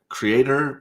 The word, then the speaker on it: Cyrator: It's Creator, but it's spelled Cyrator, right? What? Yeah, yeah. Cyrator is I kind think of it's just how I've called been reading Creator, it. but just, they made it like that for branding, whatever reason.